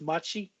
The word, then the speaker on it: mate: has the Yerba mate I think it's pronounced in in Brazilian Portuguese Machi that t mchy it's